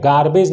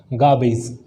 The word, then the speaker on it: garbage: गार्बेज नहीं पढ़ना है, इट्स not called गार्बेज, what is the right word, how to pronounce in right way, that is garbage.